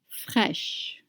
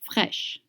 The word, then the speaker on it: fraîches: Look at that word, fresh, and do you see the accent on the I? It's called accent circumflex, and it doesn't change anything in the pronunciation. AI in French makes the sound E.